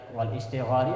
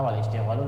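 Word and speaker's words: الاشتغال: Seperti tadi wal istighali apa wal istighalu. Ternyata wal istighalu lebih nyambung karena ke belakang.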